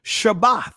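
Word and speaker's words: שבת: So desist from exertion, cease, celebrate, keep, notice what it says, keep, Sabbath, keep, shabbath. That's the proper pronunciation.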